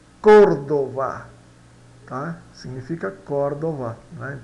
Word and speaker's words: Córdoba: Se pronuncia Córdoba. Códova, tá?